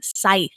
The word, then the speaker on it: Scythe: on part three of scythe i'm gonna pronounce right the entire time on here not sith despite jessica's obsession with